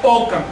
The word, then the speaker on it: ocan: de cuando en cuando de ome más el locativo can no pued decir eso no se puede pronunciar en agua entonces arrastras esta k y contaminas esta m eliminas este eh ese residuo esa desinencia y pronuncias ocan segundo y quiere decir